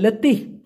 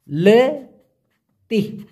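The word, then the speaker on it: letih: ঘন আসছে, হাফিয়ে গেছি, ওটাকে আবার বলা হয় লেতি। লে তি, উচ্চারণটা হবে লে তি।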